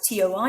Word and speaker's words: toi: Notice how it's T-O-I. It sounds like T-W, toi, but it's spelled T-O-I.